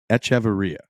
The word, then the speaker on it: Echavarria: could get it right it is etaria is how you say his name so Nico joins the